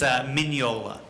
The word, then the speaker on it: Mignola: When I went to Italy, that was the first question they asked me, because they wanted to hear the American mispronounce his own name. It's Mignola.